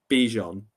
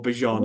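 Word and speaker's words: Bijan: So if they can limit uh Bejon then or Bjon apparently we've all said it wrong.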